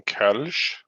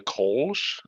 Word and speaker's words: Kölsch: you go up and you pronounce something Kölsch and then go like, oh, you mean the Kolsch? It's like, no, but there are two dots over the O. It's an umlaut. Like you pronounce it differently.